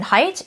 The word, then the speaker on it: Haidt: Similarly, I then picked up The Anxious Generation by Jonathan Haidt, which that is how you say his last name according to his website, by the way.